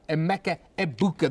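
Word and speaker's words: Emeka Egbuka: Emeka Ebuka. The G is silent.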